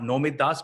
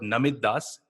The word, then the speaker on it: Namit Das: And of course, not Nomit Das, but Namit Das.